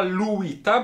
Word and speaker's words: Lewyt: znajdował się nekrolog Aleksandra Luita, była tam podana także, podany był także sposób wymowy tego nazwiska, konstruktora, wynalazcy, w cudzysłowie ojca odkurzaczy Luit, z których, tak jak powiedziałem, w latach 50.